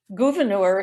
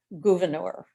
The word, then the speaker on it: Gouverneur: Gouverneur is here on the left, and I'm not mispronouncing his name. His mother was French, and even though we have Gouverneur New York, his mother wanted his name pronounced Gouverneur.